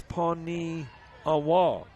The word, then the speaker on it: Paniagua: I got the last syllable wrong. It is Jesus Paniagua instead of Gua.